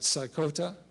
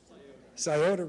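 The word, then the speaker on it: Scioto: take the and help me if i don't pronounce it right saikota river sciota river thank you so iota river the sciota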